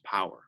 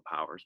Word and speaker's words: Paur: team name so you sometimes people pronounce my name par so that's fine as well that's how my dad actually pronounces it but i believe the product correct pronunciation is power i know we should